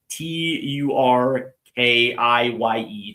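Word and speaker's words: Türkiye: How did I How did I Excuse me, how did I just pronounce Turkey? Turkey? Turkiye? They Turkey has rebranded in the years in the last couple of years. So they are T U R K I Y E Turkiye.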